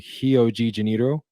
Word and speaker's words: Rio de Janeiro: Rio and our and in Brazil ours are pronounced as H's fun fact so Rio de Janeiro is actually heogeniro so let's figure that